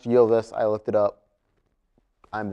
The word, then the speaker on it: Ylvis: Most notably, the popular Ylvis, it's pronounced Ylvis, I looked it up, I'm that thorough, song called What Does the Fox Say?